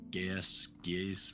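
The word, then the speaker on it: Geas: I'm gonna cast Geese, whatever, however the hell you pronounce that. Geese. Um, It's geese, like honk honk.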